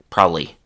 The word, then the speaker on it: probably: Now, people also rarely say the word probably the way it's written on the page. Instead, they say probably.